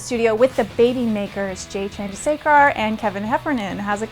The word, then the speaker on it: Chandrasekhar: the Young Hollywood studio with the Babymakers, Jay Chandrasekhar and Kevin Heffernan. How's it going, guys? Hi, Nikki. How'd I do with your name? You did really well. You nailed it. Yeah. Chandrasekhar.